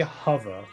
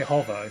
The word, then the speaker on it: hover: We we we say hover, you know, we we pronounce the O cuz that's how it's spelled.